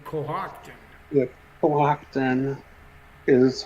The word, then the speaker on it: Cohocton: I always wonder what that name, how you pronounce that name, Cohocton. Yeah, Cohocton is how, well, in Wayland, there was a pretty sad thing that happened on the railroad.